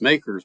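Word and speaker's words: MACRS: tax the depreciation using makers m-a-c-r-s the modified accelerated cost recovery system which is pronounced makers by tax accountants and as a tax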